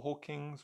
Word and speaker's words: Hawkins: Is it Hawkins or Hawkins or Hawk? I think it's. Let me quickly look because I don't be mispronouncing his name. Hawkins, like Taylor Hawkins.